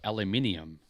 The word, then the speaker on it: aluminium: We don't call it aluminum. We call it aluminium.